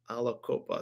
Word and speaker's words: Aliquippa: spelled it's spelled Aliquippa. Aliquippa. Alacopa.